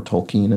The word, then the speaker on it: Tolkien: could be Orcs monsters from the Tolkien or Tolkien as it was pointed out I should be pronouncing it by a commenter recently um novels